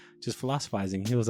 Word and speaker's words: Philosiphisting: Yeah, because that's how it is, philosophizing, the T silent.